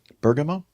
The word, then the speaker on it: Bergamo: How do you pronounce that? Bamama. Bergamo.